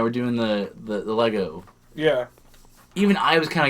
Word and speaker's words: Lego: Do you say Lego or Legos? Lego cuz that's how it's pronounced.